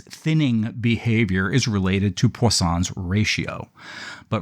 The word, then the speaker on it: Poisson: It's like poison with an extra S. Poisson? Poisson, an French sounding word.